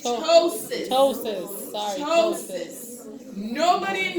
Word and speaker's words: ptosis: And if I hear ptosis, I'm going to fail you. The P is silent. The P is The silent. P is silent. Yeah, so It's it's ptosis.